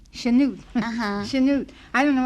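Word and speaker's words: Chanute: what's your town uh snoot Kansas you have to sneeze it when you say it spell it c h n u t e sheno uhuh sheno I don't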